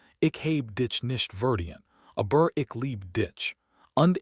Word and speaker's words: verdient: "You mispronounced verdient," she said, her voice unsteady. He looked stricken. "I did. The I is a long vowel. You made it short."